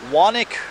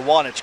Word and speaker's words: Wanich: here in Columbia County this is the wanik or the wanich covered bridge I'll let you determine